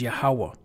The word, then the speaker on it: Yahuwah: into the origins of why they call them Yahweh and really the name is yahuwah because our days upon